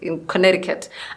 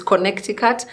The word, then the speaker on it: Connecticut: If I read it, it's Connecticut, so I don't understand why Americans say Connecticut, because that just doesn't make sense to me.